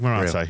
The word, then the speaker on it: Marathe: of different people, and that's where Parag, it's Marathe, isn't it? No, we got our heads around the pronunciation. Now is the time to learn it. Parag Marathe, yeah.